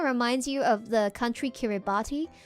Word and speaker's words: Kiribati: Kind of reminds you of the country Kiribati. The T in the language is pronounced like an S. So it's actually Kiribati.